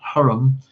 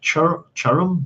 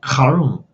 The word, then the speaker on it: Huram: Chai saying in Hebrew it's not Huram. It's a guttural letter, like churum, like it's like a tree, ch, like a German pronunciation of ach, like karum, like that.